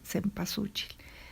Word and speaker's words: cempasúchil: tradición mesoamericana bien ahora la flor de sempo al socheat esa es la manera correcta en la que se debe pronunciar pero bueno ya a lo largo de los diferentes siglos la pobre palabra se ha ido deformando hasta cempasúchil porque es tiempo also